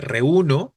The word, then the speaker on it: reúno: una observación Velázquez no la palabra reúno sí lleva acento eh Porque sí efectivamente es grave terminada en vocal reuno estoy de acuerdo